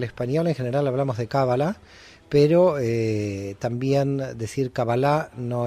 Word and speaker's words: cábala: es cábala con el acento en la primera vocal cábala o cábala a ver el término